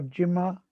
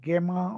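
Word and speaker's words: gemma: And vegetative reproduction by fragmentation and by the vegetative bud, like what is called Jimmy or Jima is Gema also some people pronounce.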